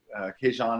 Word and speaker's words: Kees-Jan: For anybody who's wondering how you pronounce Kees-Jan, Kees-Jan.